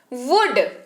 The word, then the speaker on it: would: वुड अगला शब्द है। WOULD, वुड, इसको पढ़ते हैं। अगेन एल यहां पर साइलेंट में है।